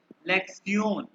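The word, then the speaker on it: Lektion: है लेक्शन ठीक है टी आई ओ एन लेक्शन को कहते हैं लेक्सियोन लेक्सियोन स्क्रीन स्क्रीन शेयर कर दें ओह सर।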